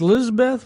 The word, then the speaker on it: Lisabeth: Is it pronounced Lisabeth? Am I pronouncing that right? Yeah, that's right.